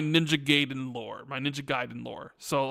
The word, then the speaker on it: Gaiden: Ninja Gaiden, Ninja Gayen. I I say it both ways. You probably say it wrong, but that's just how I say it, I guess.